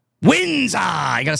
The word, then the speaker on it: Windsor: Windsor. You got to say it right. Oh, Windsor.